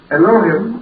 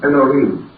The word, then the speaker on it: Elohim: We generally pronounce that as Elohim, or more perhaps correctly, Elohim.